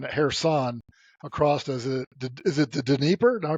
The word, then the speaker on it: Dnieper: across, is it the Dnieper? Did I pronounce that right? The Dnieper River? It's actually pronounced both ways, the Dnipro or the Dnieper.